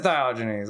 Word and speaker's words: Diogenes: How to pronounce. It is Diogenes.